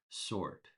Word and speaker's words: sword: We don't pronounce the W. We pronounce it as sword.